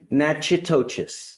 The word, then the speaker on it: Natchitoches: I butchered the pronunciation, but. Natchitoches.